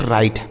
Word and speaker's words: write: इसे पढ़ा जाएगा बच्चों राइट। WRITE इसे पढ़ेंगे राइट। देखिए W जो है ना यह साइलेंट होता है।